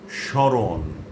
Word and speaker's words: স্মরণ: তবে প্রমিত উচ্চারণ রীতিতে মফলাযুক্ত বর্ণটির খানিকটা নাসিক্য প্রভাবিত উচ্চারণ হয়, অর্থাৎ যেই বর্ণটার সঙ্গে মফলা যুক্ত আছে তার উচ্চারণ খানিকটা নাকিস্বরে হবে।